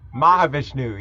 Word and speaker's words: Mahavishnu: Mahavishnu, yeah.